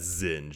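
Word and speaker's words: Zsinj: do it f a majority YouTube videos I ever watch or listen to they pronounced it as Zing not zinja zinja Z yeah so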